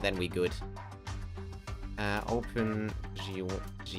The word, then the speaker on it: GUI: it is who's that whoever says gooey like get over it it is arguably gui is the better pronunciation i just i